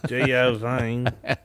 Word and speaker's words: Geovane: That's the most third-degree pronunciation yet. Geovane Jesus. Yeah. Geovane.